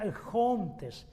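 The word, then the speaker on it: ἔχοντες: es la palabra exhontes realmente pronunciado sería el hunters como una J arrastrada como Cristo Y esa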